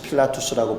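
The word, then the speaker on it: Pilatus: 원어로는 폰티우스 필라투스라고 부르는 사람이고 중국어 성경에 영향을 받아서 우리나라는 빌라도라고 발음하고 있습니다.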